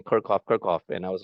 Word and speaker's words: Kirchhoff: When we first learned this, we pronounce it as Kirchhoff. And apparently it's a German physicist. The actual German pronunciation for this name is Kirchhoff.